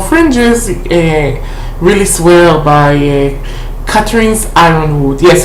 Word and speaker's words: Ironwood: And those who goes to the more fringes really swear by Catherine's Ironwood. Yes, it's pronounced Ironwood, even though she writes it with a Y.